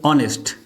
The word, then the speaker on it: honest: the word for example honest now the initial if you say a your vowels here the initial letter is H but normally we use in honest if you ask the